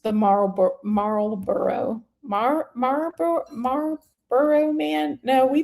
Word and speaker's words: Marlboro: Uh, nobody pronounces the L in Marlboro. There we go. Thank you. I had to see the word. Um, no, I did. From the south, we pronounced the Marl Marlboro. Marboro man.